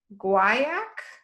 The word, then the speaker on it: guaiac: And the base is guaiac wood from Central America. I don't know how to pronounce that. It's Guaiac.